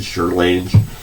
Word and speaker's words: Charlemagne: I know you pronounced it wrong, but Charlemagne.